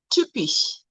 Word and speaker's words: typisch: Ypsilon is the same thing, and the word here is typisch.